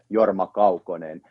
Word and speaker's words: Jorma Kaukonen: who came up, like, now you heard how to pronounce his name, because he's actually related to Finland. Nice. So that's how his name is originally should be pronounced, Jorma Kaukonen.